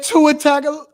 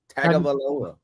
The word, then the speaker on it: Tagovailoa: I'm missing the syllable. I can't say it. Tua Tagovailoa. Tagovailoa.